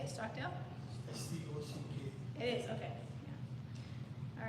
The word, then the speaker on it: Stockdale: Stockdale wait is this how you say it Stockdale it is okay all right and we put